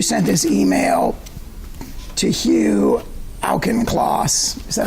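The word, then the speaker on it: Auchincloss: And uh at the top of this page, you sent this email to Hugh Alen Clauss.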